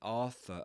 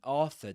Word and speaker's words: Arthur: enchanters, we mentioned that enchanters, parts, and Arthur are pronounced with the same vowel sound, at least um the stressed syllables.